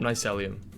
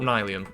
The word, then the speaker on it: nylium: Anyway, we've got the ender pearl and the warp nicelium. Is it nicelium? Nelium. Oh no, I pronounced that wrong. We got the warp nylium.